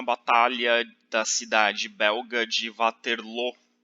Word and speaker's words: Waterloo: bélgica se fala francês a pronúncia correta do nome da cidade de vaterlô mas como a representa